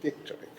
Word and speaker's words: Wieczorek: Johannes Wieczorek, is that more or less correct as a pronunciation? Wieczorek, okay.